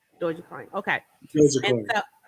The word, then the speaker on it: Dogecoin: I think it's I thought it was Doggy Coin, but it's not Doggy Coin. It's pronounced a different way. How you pronounce it? When you know how to pronounce it? Dogecoin. Dogecoin.